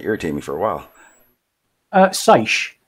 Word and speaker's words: seiche: Sizey? I'm just trying to find out how it's pronounced. Yeah. For real. That's going to irritate me for a while. Seiche. It's pronounced seiche.